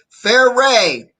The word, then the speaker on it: Fareed: Pronounced, and I think that shows it, Fair Ray. I believe that's what that says, right? Fair Ray.